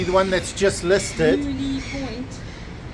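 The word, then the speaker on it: Mouille Point: Mooley Point. Apparently that is how you say it.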